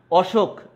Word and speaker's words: অসুখ: অসুখ মানে সুখ নাই, বিপরীতার্থক অর্থ প্রকাশ করেছে, এই জন্য অসুখের অ এর উচ্চারণ অ এর মতোই হয়েছে, উকারান্ত উচ্চারিত হয়নি।